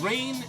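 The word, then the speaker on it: Rein: I missing anyone James rain am i pronouncing that right rain are EIN okay yeah so okey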